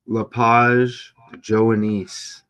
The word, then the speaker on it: Lepage-Joanisse: Lepage-Joanisse.